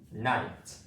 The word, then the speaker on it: knight: So basically, the K letter is silent here.